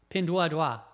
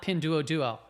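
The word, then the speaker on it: Pinduoduo: a college Mandarin Professor you are right pindad dawa not Pino Duo so I I don't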